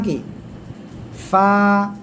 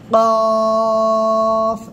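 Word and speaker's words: قاف: সে অক্ষরটা হলো এই অক্ষরটা এ অক্ষরের নাম কি ফা নিচের ঠোঁটের পেট সামনের উপরে দুই দাঁতের আগায় লাগাবেন লাগিয়ে হালকা বাতাস বের করবেন উচ্চারণ করবেন ফা সবাই একসাথে জোরে জোরে বলেন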